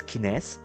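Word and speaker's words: CNES: But for the kines uh or in terms of the spelling they it spells as c nest but but uh true to the French pronunciation it's actually pronounced as kines. Okay, we kines has already start going live.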